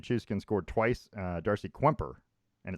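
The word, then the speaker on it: Kuemper: scored twice uh darcy kwemper and it's kwemper by the way q-k-u-e-n it's not kemper no yeah i looked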